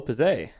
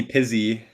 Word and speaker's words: Pizzay: Is it Pizzay or am I probably wrong, aren't I? That's fine. It's good. Is it pizza? Just be real. Is it pizza? Yeah, pizza. It's pizza.